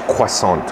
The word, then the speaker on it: croissant: and i'm snacking on i say croissant a lovely lady who works for me it says quesant real french pronunciation right there we had